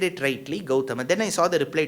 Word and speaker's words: Gautama: Why does he say Gautama? Why can't he say Gautam? Gautam is a cricketer. Gautama is the Maharishi, because in Sanskritam, the last aksharam has to be given full pronunciation. Whereas in Hindi, you can subsume that sound.